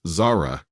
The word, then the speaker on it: Zara: If you're wondering how Zara's name is pronounced, it's Zara, like the clothing brand.